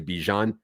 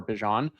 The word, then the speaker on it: Bijan: and place Algeier for Bijan if there's the injury. I love that you switched your pronunciation of of Bijan's name. Well done. I feel like it's it's like the mustard, right?